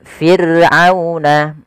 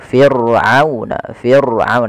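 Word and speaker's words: فرعون: Kemudian fir'auna ada ra sukun didahului dengan huruf kasrah, maka dia dibaca dengan ra tarqiq, ra yang tipis, tidak boleh ditebalkan. Tidak boleh fir'auna, tidak boleh. Ya, tapi dia tipis.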